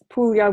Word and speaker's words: Puglia: Puglia with a G, but you don't pronounce it.